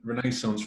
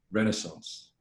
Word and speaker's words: renaissance: me we weren't saying renaissance wrong last week we're saying it like english people say it but americans say it renaissance which is a bit